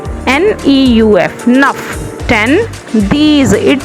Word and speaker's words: neuf: 9 NEUF, nuff.